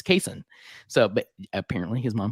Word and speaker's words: Cason: before Summer League and corrected the the pronounce pronunciation and and it's Cason.